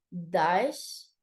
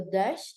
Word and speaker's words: Daesh: Además, la pronunciación del vocablo Daesh en francés es similar a déchet, que significa miseria, y a taché, que se refiere a mancha.